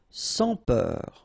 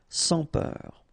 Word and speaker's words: sans peur: e u R he peur sans Peur don pronounce final s sans Peur inconfortable ok table incforttable